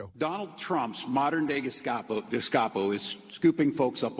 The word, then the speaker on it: Gestapo: And he can't pronounce Gestapo. I think he called them gaspacho, which is a spicy soup, but that doesn't matter now.